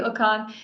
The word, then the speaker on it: Okon: your last name is it I yeah I mispronouncing right your first name thank you okan thank you so much and I look forward